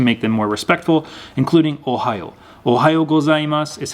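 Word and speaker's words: おはよう: morning in japanese is ohio gozaimasu this ohio right here is kind of pronounced like the ohio state in the united states ohio but keep in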